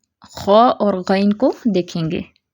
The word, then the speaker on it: خاء: تلفظ دیکھتے ہیں۔ پہلے خاء کے لیے دیکھتے ہیں کیسے اس کو ادا کرنا ہے۔ اس کو معمولی سے لمبا کر کے ادا کیا جاتا ہے، جیسے خاء خاء، ٹھیک ہے۔ ساکن ہوگا خاء تو کیسے پڑھیں گے؟